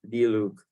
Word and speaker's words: Diluc: It's okay, D and then Luke, like D-Luke.